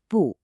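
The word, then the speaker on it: 不: We start with bu which is pronounced bu meaning not.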